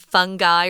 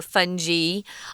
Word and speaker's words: fungi: I think you pronounced it fungi or fungi, didn't you, Tom? Yeah, my dictionary gave that pronunciation, so I went with that pronunciation, although I think fungi is actually more common, I think.